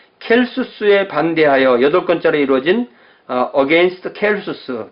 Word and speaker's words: 켈수스: 자, 켈수스에 반대하여 8권짜리 이루어진 against 켈수스. 켈수스를 영어로 발음할 때는 셀서스 이렇게 번역합니다.